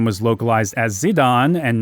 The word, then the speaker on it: Zidane: Zidane and not Gitane, the katakana character Ji at the start of his name can have either a J or Z sound, depending on whether it's being done with the Hepburn or Kunrei systems of romanization.